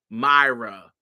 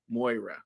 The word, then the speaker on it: Moira: Because I want to say Myra, but I know it's not Myra. Moira. Anyway, Moira. When we think about Moira, that's what we get from Moira.